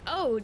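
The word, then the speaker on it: oud: It's scented like vintage leather and I think it's pronounced Ode. It's O-U-D.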